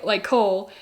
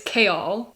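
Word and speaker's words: Chaol: And instead of Cole, it's Kaol. I feel rather stupid, but at least I was pronouncing Arobyn's name right.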